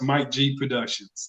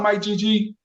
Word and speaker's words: Mike GG Productions: It's 2 G's, but it's just pronounced Mike G Productions.